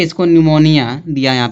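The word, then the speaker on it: pneumonia: या P silent होगा। ठीक? इसको क्या पढ़ेंगे? निमोनिया।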